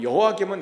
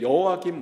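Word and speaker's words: 여호야김: 이차포로는 언제 때에 발생하냐면 이제 여호와김 왕이 죽고 그의 아들인 여와긴 왕 때에 발생합니다. 이게 발음이 되게 어려워요. 여와 김과 여호와 긴입니다. 미음하고 니은 차이예요.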